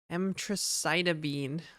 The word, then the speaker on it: emtricitabine: One was, well, there was 2 pills of spironolactone and 1 pill of emtricitabine.